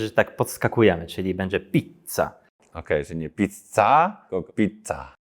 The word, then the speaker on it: pizza: nawet pizza w Polsce podwójne litery są zawsze źle wymawiane ponieważ w polskim języku że dwa razy wymawia tę literę czyli mówi się pizza a we włoszek to jest pizza gdy jest podwój litera to we włoskim języku my po prostu wzmacniamy tą literę można powiedzieć że tak